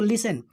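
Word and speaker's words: listen: पहले किया हुआ है एन के पहले टिकेट साइलेंट हो जाएगा तो लिसन लिसन में क्या होता है सुनना किसको कहते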